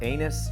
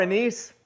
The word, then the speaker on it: anise: a lot of um i think you're supposed to say that word anus but i don't like to pronounce it that way star anise starring anisi so that